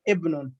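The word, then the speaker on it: ابن: It's talking about if the word Ismun comes in the beginning of the sentence, the alif is pronounced, but when Ismun comes in the middle of the sentence or end of the sentence, the alif of Ismun and Ibnun becomes silent.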